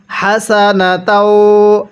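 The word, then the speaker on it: حسنة: এরপরে হাসানাতাও হাসানাতাও স্মরণ রাখবেন এই হাগুলো উচ্চারণ করার সময় মুখ দিয়ে হালকা বাতাস বের করতে হবে। অনেকেই আমরা এই হাগুলো উচ্চারণ করার সময় মুখ দিয়ে আওয়াজ করি। অর্থাৎ হাসানা তাও এরকম ভাবে পড়ি। এরকম ভাবে পড়লে এই হাটা সহি শুদ্ধ উচ্চারণ হবে না।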